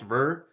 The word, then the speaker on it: Bheur: adam liking to get things correct that it's pronounced ver it's spelt b-h-e-u-r yeah i like i want